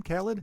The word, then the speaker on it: Khaled: Khaled?